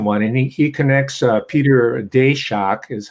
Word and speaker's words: Daszak: This is the recent one, and he connects Peter Daszak, is how it's pronounced.